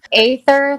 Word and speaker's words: Aether: It's Aether, like right, like AI.